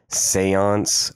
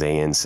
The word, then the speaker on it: Zayence: here AKA Seance or zance as some people like to Mis pronounce my name feel like if you speak the English language and pronounce zans as Seance or zance when it says n clearly and Z it might have to